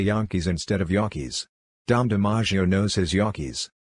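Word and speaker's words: gnocchi: pie back to yakis I think it's the spelling that scares off the Americans yakias spelled gnocci the g is silent so some people say nakis which is wrong the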